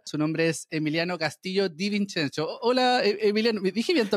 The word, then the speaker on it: Di Vincenzo: es una complicación y se pronuncia Di Vincenzo. Es italiano, se viene de esa rama, entonces, claro.